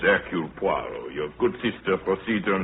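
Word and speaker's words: Hercule Poirot: If I may be permitted the one slight correction. My name is Eul Puarro.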